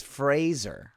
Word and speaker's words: Fraser: do you say it it is Fraser like a race razor all right well Brendan